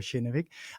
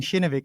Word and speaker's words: Kinnevik: I'm saying shinik and that's a bit because I'm coming here from the Nordics and and that's at least how uh uh my peers primarily have pronounced it. So if if anyone listening in are feeling that what wait what company are you guys talking about? It's because we're we're from different backgrounds. So we have different pronunciations here.